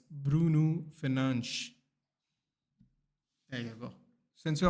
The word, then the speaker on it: Fernandes: It's not Bruno Fernandez because he's not Hispanic or he's not Latin American. It's Bruno Fernandes.